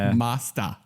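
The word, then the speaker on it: Masters: the uh Neo Geo I believe the correct pronunciation of that name is neot Turf Masta maasta MAA there there's no ER it's Masta um sorry it was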